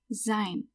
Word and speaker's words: sein: If you don't know much about how to pronounce different letters in German, every time you see an E-I or EI, it's pronounced I. So that's why this word is pronounced sein.